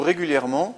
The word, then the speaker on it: régulièrement: Quatrième exemple, utilisez-vous régulièrement cette procédure? Régulièrement, on a une prononciation en EMant, donc un seul M. Régulièrement, E, M, ENT.